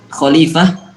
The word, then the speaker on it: khalifah: Khalifah, lamnya panjang apa pendek? Panjang Ustaz. Panjang, berarti khalifah bacanya.